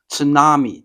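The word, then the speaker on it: 津波: Same in English, we say tsunami, but in Japanese, it's called a tsunami, it's tsunami, right? Tsunami. So the tsu is, you can start with like cats, then cats, tsunami, sushi.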